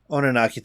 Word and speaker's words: Oninaki: Oninaki, thank you. No, the second I said it, I'm like, I know I butchered that.